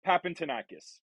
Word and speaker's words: Papantonakis: It's Papantonakis. So Papantonakis is the last name.